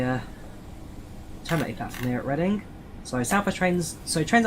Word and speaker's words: Reading: It's reading not reading reading.